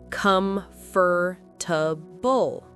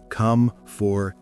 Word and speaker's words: comfortable: That's how a lot of people say it. They pronounce all the syllables. Comfortable. But that's wrong. Well, it's not natural. Native speakers usually say comfortable or comfortable. We drop some sounds and make it shorter.